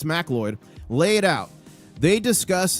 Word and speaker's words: Macleod: MacLeod? It's MacLeod.